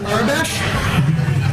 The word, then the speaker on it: Ares: I am very single mispronounced but it's Ares and you are very